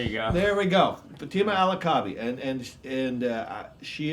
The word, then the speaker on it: Fatima Al-Kaabi: What's How do you pronounce her last name which I could not even do? Fatima Alakabi. Fatima Alakabi. Right. There you go. There we go. Fatima Alakabi.